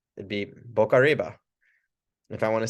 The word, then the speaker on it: boca arriba: So we got boca arriba. Feel free to roll the R's if you like to. I'll kind of say it like this, boca arriba.